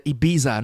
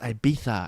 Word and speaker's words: Ibiza: The Ibiza, no, it's pronounced Ibiza, and they make it sound like it's this super luxurious holiday to an American.